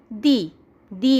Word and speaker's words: the: দি অ্যান্ট। আর দ্য বয় বললাম, তাহলে বয়ের প্রথম অক্ষর হচ্ছে বি, বিটা কনসোনেন্ট। তাহলে ওয়ার্ডের প্রথম লেটারটা যদি কনসোনেন্ট হয় তাহলে দি এর উচ্চারণ হয়ে যায় দা।